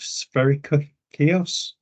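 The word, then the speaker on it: Spercheios: defeated a bulgar Army at the Battle of Sperry kiosk uh that's s-p-e-r-c-h-e-i-o-s uh in case you were underink from my pronunciation um now this was significant because it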